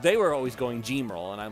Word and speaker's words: Gemerl: How do you feel about the official pronunciation of now we know for sure it is Gemerl. It is now officially Gemerl instead of Gemerl or anything like that.